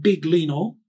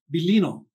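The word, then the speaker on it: Biglino: Bible by Marl Bel belino it's not big Leno so some of you that think that no it's not that it's a Italian name belino the g is silent so Maro he refers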